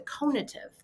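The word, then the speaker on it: conative: And then how you strive and take action is the conitive. Think Sar cone heads if you want to remember how to pronounce that.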